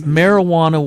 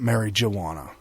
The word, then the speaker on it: marijuana: right well it marijuana the J is silent so they put an H in there to americanize oh so it's like not Mary jaana yeah you don't pronounce